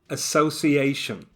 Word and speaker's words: association: Association.